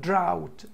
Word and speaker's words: drought: بمعنى ملائمة للبيئة environment environment drought الكلمة دي نطقها drought drought يعني جفاف عكسها flood يعني فيضان comfortable